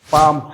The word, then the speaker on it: palm: La pomme de la main, c'est palm hand. Pand ne prononcez pas le L.